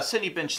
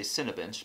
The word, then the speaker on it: Cinebench: know it'd be a city bench thing triggers people so I'm sorry about that I meant to say Cinebench but I always say it wrong and I'll probably speed this